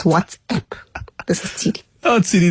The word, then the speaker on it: WhatsApp: And I'm one of those people who say, or who get annoyed with people that say, what's up? That's asking a question. It's WhatsApp.